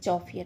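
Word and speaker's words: chauffeur: चौफियर। चौफियर मतलब होता है मोटर कार चालक। क्या बोलते हैं? चौफियर।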